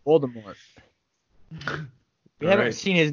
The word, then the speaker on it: Voldemort: on say his name older more volder you said that last time pulled her off you can't say that again voldemort yeah there you go you're getting it jared voldemort we haven't seen his